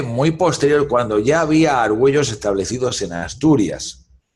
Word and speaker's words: Argüello: ellos te quedan bien dice ok mister agua low y pronuncian al vuelo como que si estuvieran porque fueron brasileros pero pero no es argüello que decirles tengo que